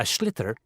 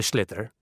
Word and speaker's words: sliotar: This is what it looks like, and basically you have to get this ball, called a sliotar, that's S-L-I-O-T-A-R, so it's not spelt the way it's pronounced.